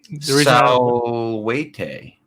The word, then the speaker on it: salvete: You know how you say salutations in Latin, the dead language of Latin? No. Salvete. But it's spelled salvete. Oh. Like a salvo.